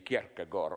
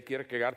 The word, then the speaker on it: Kierkegaard: I read in a biography of, how to pronounce it correctly, Kierkegaard. Okay, we in the corrupted West say Kierkegaard.